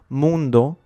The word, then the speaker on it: mundo: Par exemple, mundo finit par un O, donc on l'accentue sur le U. Mundo.